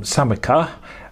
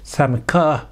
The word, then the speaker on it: Samoca: japan and it's um i think you pronounce it um samika as a m o c a samaka um 35 and it